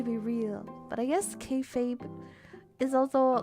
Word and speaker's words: kayfabe: This is kayfabe.